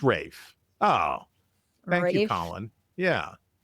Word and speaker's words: Ralph: It's Ralph Fines though. Is Is there a Rafe Fines and a Ralph Fines? Are they brothers or am I just pronouncing it wrong? It's Rafe.